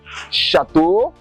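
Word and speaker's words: château: EAU is pronounced as O too. EAU is also pronounced as O. Okay, like chapeau, chateau, bateau, de l'eau.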